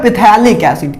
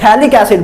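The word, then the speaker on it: phthalic acid: तो उसको बोलते हैं पिथैलिक एसिड। क्या बोलते हैं, पिथैलिक एसिड, ठीक है ना, पिथैलिक एसिड। पी साइड इधर साइलेंट है, पी साइलेंट था इधर, थैलिक एसिड बोलते हैं इसको।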